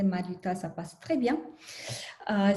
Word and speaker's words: Mariuta: mari si mari c'est trop trop difficile à prononcer mariuta ça passe très bien euh sinon ça